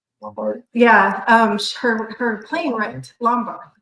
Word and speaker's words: Lombard: Well, in 2015, 16, I talked him into going to Good Springs, Nevada, to where Carol Lavard, did I say her name right? Lombard.